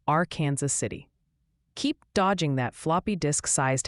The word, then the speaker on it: Arkansas City: And a friendly tip for then viewers say Arkansas City, Kansas is pronounced R Kansas City.